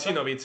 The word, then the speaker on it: Pjecinovic: Pieksinovic, la J dentro de esa J se pronuncia Sí. como una I.